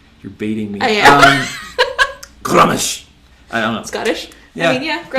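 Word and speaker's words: Gruumsh: So Grummish is that's how I've always pronounced it. Okay. I'm sure someone else is going to be like, it's Groomish. Fine, great, no problem.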